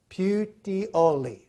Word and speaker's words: Puteoli: Puteoli. You got to say it like you're an Italian, okay? Because we're in Italy.